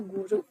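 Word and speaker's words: goeroe: Salah satu ciri khasnya adalah penggunaan huruf OE yang untuk bunyi U. Contohnya seperti goe, roe, dibacanya guru.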